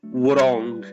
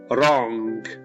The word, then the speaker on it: wrong: weather forecast is wrong we don't pronounce the w we don't say wrong it's just the r wrong is wrong the